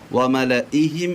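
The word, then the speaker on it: مَلَإِيهِمْ: പ്രിയപ്പെട്ടവരെ, സൂറത്ത് യൂനുസ് 83-ാമത്തെ ആയത്ത് വിശുദ്ധ ഖുർആൻ 218-ാമത്തെ പേജിൽ നോക്കിയാൽ മിൻ ഫിർഔന വമലഇഹിം എന്ന് കാണാം. ഇവിടെ വമലഇഹിം എന്ന് ഓതൽ തെറ്റാണ്. ഇവിടെ ഓതേണ്ടത് വമലഇഹിം എന്ന് മാത്രമേ ഓതാവൂ.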